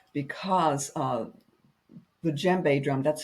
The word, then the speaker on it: djembe: Right, because the djembe drum, that's spelled Djembe. There, you don't pronounce the D.